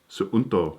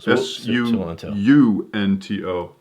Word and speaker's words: Suunto: But this is called the, how do you pronounce that? Is it Suunto? Suunto. Sunto.